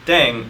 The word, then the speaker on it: 땡: The pronunciation of dang is similar to thang, which is the slang of thing in English.